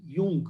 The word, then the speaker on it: Jung: ठीक है, एक आपको Karl Gustav यूंग, JUNG, यूंग उनका प्रोनाउंसिएशन है, यूंग का नाम याद रखना है।